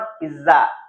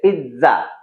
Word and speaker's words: pizza: सो याद रखिए, लिखा जाता है इसे PIZZA, पिज्जा, लेकिन बोला जाएगा ऐसे PITZA, पिज्जा।